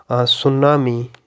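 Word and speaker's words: tsunami: यह रोल है कि द टी is silent in certain common words mostly बीच में भी आ सकता है स्टार्टिंग में भी आ सकता है such as इन the word सुनामी लेट me right it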